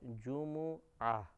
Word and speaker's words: جمعہ: تجدید کے پڑھتے ہیں، لیکن عربی تلفظ کے اعتبار سے جیم اور میم دونوں پر پیش ہے جمعہ، جمعہ کا دن۔ اگر یہ مشکل محسوس ہو تو جمعہ بھی چلی جائے گا، لیکن جب قرآن پڑھیں